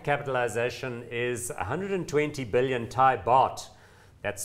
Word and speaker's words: baht: The market capitalization is 120 billion Thai baht. That's spelled B-A-H-T.